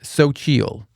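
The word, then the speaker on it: Xochitl: Uh there's an XO C hi TL. I believe that's pronounced Sochial.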